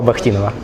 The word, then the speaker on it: Бахтинов: гуру российской астрофотографии Павла Бахтинова. Павел, здравствуйте. Я сразу же боюсь, прошу прощения, может быть, я неправильно ставлю ударение в фамилии. На первом слоге.